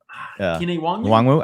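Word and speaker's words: Kene Nwangwu: How do we pronounce Kine Nwang? Kine Nwangwu.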